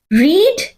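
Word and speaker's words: read: आर ई ए डी but pronunciation change हो जाता है सो how will you pronounce she हैज रेड that book pronunciation इसका आर ई डी रेड होगा spelling will Rime the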